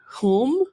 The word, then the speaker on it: Hulme: name but home maybe h u l m e home like home yeah like kind of like kind of like a PO but it's a home yeah it's like hu l